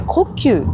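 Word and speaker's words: 虎丘: これから虎ラオカと書いて呼吸と読む有名な観光名所に行きます。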